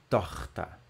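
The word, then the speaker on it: Tochter: r em alemão tá esse daí não é um R é um ch tá vendo mas parece um R né bem arranhado assim torta então vou deixar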